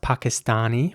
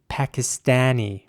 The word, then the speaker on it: Pakistani: In British English, the word would be pronounced Pakistani with R's. And in American English, it would be Pakistani with A's, with A sounding A's.